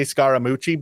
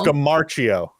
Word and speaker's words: Scamarcio: I always want to say Scaramucci, but that's not right. No. Scamarcio. I believe is how you say his last name.